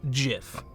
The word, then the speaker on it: GIF: I don't care if it's "gif". I know it's graphical. You know what? The guy who invented it says it's pronounced "jif", so suck on that.